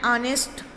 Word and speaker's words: honest: Next, even before a word beginning with the h but not sounded.